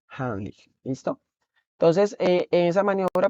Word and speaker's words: Heimlich: La mayoría la conoce como Heimlich, pero es una palabra alemana y se pronuncia como Heimlich.